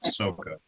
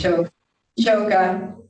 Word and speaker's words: Choka: I believe it's Yeah. pronounced Soka. It's Choka.